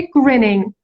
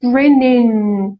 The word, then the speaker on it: grinning: اصلا اون گه آخرش هم اصولا نمیگن تا وقتی که تو بذار این یه نکته تلفظی دیگه هستش تا وقتی که تو این کلمه‌ای که ing گرفته خب اگه اسم باشه مثلا تا وقتی که اسم جمع نگرفته یا تا وقتی که به کلمه بعدش تو اینو لینک نکردی اینو تو دماغی تلفظ میکنی، یه صدای نیزل هست.